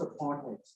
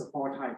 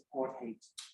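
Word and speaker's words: apartheid: in the room apartate and the word is pronounced apartate Americans tend to pronounce this aart height it's apartate and literally it means apartness separateness complete in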